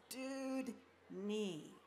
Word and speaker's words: Dewdney: say my last name you just say dude my last name is dude NE so dude NE is the way you can remember how to say it but you can always